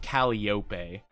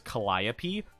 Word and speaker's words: Calliope: uh oh my gosh I always pronounce mauri's name Mori caliope I didn't realize until like probably like a good like couple months after she uh debuted and I heard her pronounce her name as Calliope I was like what calliope what do you mean Calliope it's not caliope I don't know why